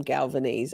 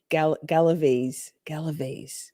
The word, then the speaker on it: Galaviz: I've been calling him Galvanese. I kind of like Galvanese better, but Galaviz.